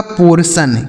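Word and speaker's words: portion: आगे लिखा पी ओ आर टी आई ओ एन। तो पी ओ से दोस्तों हो जाता है आपका पो आर से र। ठीक है? और टी आई ओ एन का उच्चारण हो गया सन। यह लिखा गया आपका पोर्शन।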